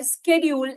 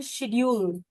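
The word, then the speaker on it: schedule: word होते हैं call स्केड्यूल एंड शेड्यूल स्केड्यूल इ American English American pronunciation accent की बात नहीं कर रही हूं वर्ड को उच्चारण करने का जो प्रोनाउंस करने का तरीका है व बताती हूं तो ऐसे ही जब आप बात करते स्केड्यूल स्केड्यूल US English and शेड्यूल जो हम बचपन से सुनते आ रहे हैं व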